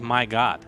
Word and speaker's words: Mryagut: you goop my god apparently we mispronounced a the whole time for to turn announcing oh my god is this I mean that's what it looks like to me I mean why would you not want your name to be pronounced as my god that's the real question